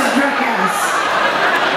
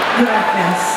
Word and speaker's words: Dracass: Och jag frågade henne hur man uttalar hennes namn. Och hon sa, det är lugnt om du inte säger exakt rätt. Lindsay Dracass. Alltså Dracass. Dracass. Dracass. Ja.